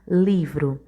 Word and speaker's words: livro: Por exemplo, a palavra livro. Livro, a sílaba forte da palavra livro é o li, é a sílaba tônica.